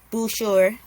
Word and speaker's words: Boucher: got the long guy Chris Boucher Boucher yeah I think oh yeah it's like the art the r is silent it's weird yeah um